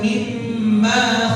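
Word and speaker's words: مِمَّ: Jadi mimmanya dibaca panjang pendek manya. Baca pendek. Nah, banyak orang bacanya panjang. Salah dibaca. Jadi baca begini. Falyanzuril insanu mimma khuliq. Dibaca mimma khuliq. Salah betul? Salah kenapa? Karena di kalimat mimma enggak ada huruf alif.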